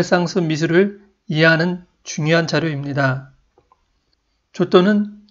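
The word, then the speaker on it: Giotto: 상승해 와 의 선구자였던 초 또 뒤 본 도내 를 만나보겠습니다 이름에 토토 라는 발음이 들어가서인지 한국에서는 지오토 라는 이름으로 부르기도 합니다 오늘은 초 또 라 부르도록 하겠습니다 초 또는 1567년 피렌체에서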